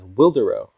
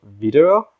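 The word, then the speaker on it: Widerøe: known to us Americans as Wildero. But I did my research, and apparently the Norwegians pronounce it something along the lines of Videro, but they got their nice green lines down.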